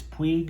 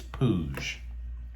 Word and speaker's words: Puig: i've made a mistake i thought it was puig because that's how it's spelled it's pooj which rhymes very closely with something that happens to teenage boys when they get simultaneously happy and embarrassed i'm starting to wonder